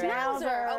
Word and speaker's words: Schnauzer: shrines how do you say that shroud Schnauzer Schnauzer okay Rizzo into their very own Dr Seuss